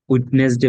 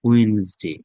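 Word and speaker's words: Wednesday: উইডনেসডে বলেন অনেকে, এটা ওয়েনসডে, ওয়েনসডে, ওয়েনসডে, WEDNES, Owens, D এর উচ্চারণ হবে না, ওয়েনসডে, ওয়েনসডে, থার্সডে।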